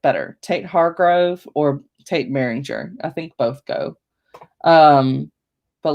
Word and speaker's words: Behringer: It looks like Beringer instead of Behringer, but it's still pronounced Behringer.